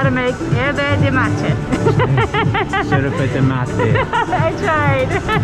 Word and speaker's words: yerba mate: I mean, in English we would butcher it and say yerba mate, but in Argentinian it's yerba de mate.